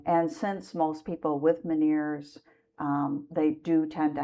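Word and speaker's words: Ménière's: Um a couple of people in my family have uh miners disease. Is that how it's pronounced? Yes. Miners.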